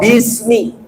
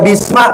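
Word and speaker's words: بِسْمِ: Contoh Bismillah dalam surat Alhamdulillah, di situ ada bismi, banyak harfu jer, ismi karena majrur, dibacanya jer, dibacanya kasroh, maka bismi. Nggak boleh dibaca bisma, bismu, maka kalau dibaca itu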